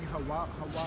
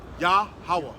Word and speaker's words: Yahweh: How you pronounce it? Yahweh. Yah. Yahawah.